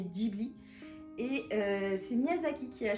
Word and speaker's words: Ghibli: donc c'est pas tu en japonais en prononce pas Ghibli mais Ghibli et c'est Miyazaki qui